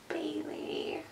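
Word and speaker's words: Baylee: like when somebody asks, they're like, oh, like Bailey's and coffee. I'm like, sure, but it's not spelled that way.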